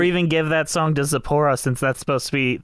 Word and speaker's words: Zipporah: It'd make a lot more sense for Zipporah, right?